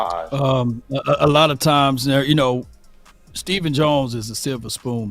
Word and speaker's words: Stephen: His name is spelled Stephen. Why are we calling him Steven? It's Stephen. Yeah. Why would you call him Steven?